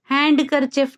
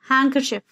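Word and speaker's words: handkerchief: Listen, soften, whistle, हैंकरचिफ, हैंडकरचिफ नहीं होता है, हैंकरचिफ.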